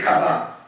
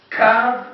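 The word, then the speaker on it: קו: But the he we don't pay attention, we don't read it kavah.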